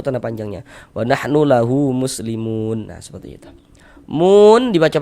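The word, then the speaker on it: مسلمون: Ini kalau kita baca Al-Qur'an tidak berwakaf, tidak berhenti di huruf nun, kita wasolkan muslimun dan langsung kita teruskan, kita sambung bacanya, maka panjangnya mu tetaplah menjadi mad tabi'i dan dibaca dengan panjang 2 harokat.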